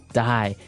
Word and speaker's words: dye: you're dying it okay Dy so it's pronounced exactly the same way as you know to die to not live anymore die but it's spelled